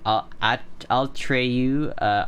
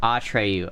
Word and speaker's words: Atreyu: My screen name is not good at pointing out how to say it, so it's Atreyu, Atreyu. Oh, I see. Atreyu, okay.